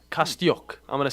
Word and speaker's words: Kostyuk: But Ukrainian tennis star Marta Kostyuk, that's her name, Kostyuk, I'm going to say it like that, okay?